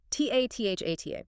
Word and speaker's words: tathata: It's tathata, T-A-T-H-A-T-A, pronounced tathata.